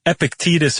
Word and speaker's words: Epictetus: important Stoicist uh Well, I'm going to pronounce it Ep- Epict- Epictetus? Epictetus. Epictetus? Sounds like a vaccine shot. It does. E P I C T E uh T U S.